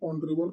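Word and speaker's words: honourable: आगे आर्टिकल लगेगा ऑनरेबल क्योंकि स्वर के हिसाब से अ के हिसाब से उसका उच्चारण ऑनरेबल का जो है ओनरेबल ऑन रेवल इस हिसाब से है तोकि स्वर है तो यहां पे एन का प्रयोग किया जाएगा आइए दूसरा क्वेश्चन देखते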